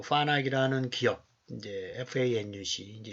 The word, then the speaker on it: FANUC: 시스템을 운영하기 위해서 요 파낙이라는 기업, 이제 FANUC, 이제 일본어로 발음을 하면 화낙이라고 이제 발음이 되니까 이제 화낙 필드 시스템이라고 얘기하는데, 그래서 요 엣지와 포그와 클라우드 세 개로 이제 운영이 돼 있어요.